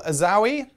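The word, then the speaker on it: Azzaoui: Now, I'm not sure how to say this. Ismail Azawi, you think? Yeah, I think it's Azawi. A-Z-Z-A-O-U-I. Azawi. Azawi, I'm not too sure.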